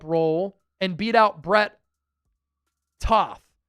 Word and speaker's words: Toth: Can he win that backup role and beat out Brett Toth? It's kind of tooth on the Eagles pronunciation guide, but I kind of like saying tough or tal, I think it might be.